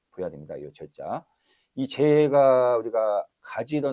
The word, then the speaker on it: 齊: 좀 보여야 됩니다요 제자이 재가 우리가 가지러 날 제자입니다 지금 우리가 어 뭐 제가 할 때이 제자 쓰죠 그렇지만 어 제 아까 발음이 어떻게 들리는지 모르겠지만 재로 읽어야 됩니다 재 제가 아니고 재 재 그래서 제가 여기 성교